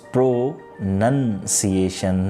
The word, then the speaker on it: pronunciation: here the word is pro-nunciation none not noun like ports of speech so the correct usage